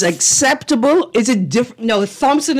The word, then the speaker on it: Thompson: is it diff no Thompson is an over correction of because the English is a silent H Thompson right Thompson right so